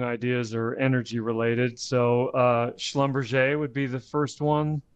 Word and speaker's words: Schlumberger: Do you do the German? What is it? Schlumberger? Is it Schlumberger? Right. It's Schlumberger.